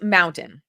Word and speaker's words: Mntn: But who's mountain? So, I found this from Mountain's website. It's Mntn, pronounced Mountain.